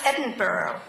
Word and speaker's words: Edinburgh: us that he had studied in Scotland in Edinboro and even though it was spelled e d i n bu u r g h it was to be pronounced Edinburgh so I introduced him to my husband as